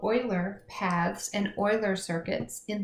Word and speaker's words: Euler: graph theory I know that this looks like Euler it's German though it's a madman he was a mathematician and it's pronounced Euler ok true or false ABC these are review